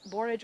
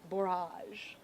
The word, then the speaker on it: borage: a wonderful plant so that's borage or barrage everyone pronounces plants different I love it I